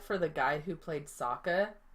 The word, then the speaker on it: Sokka: And yeah, I feel bad for the guy who played Sokka, not Sokka, Sokka. I feel bad because you can tell in his acting that he's trying to make Sokka funny, but you can